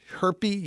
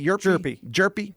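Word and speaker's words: Hjerpe: 18th round uh 2022 I'm going to say the dude's name wrong uh Connor herpes jerpy thank you first round I think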